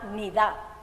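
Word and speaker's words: niddah: este periodo lo sabían ese periodo se llama nid se escribe n i d a h en hebreo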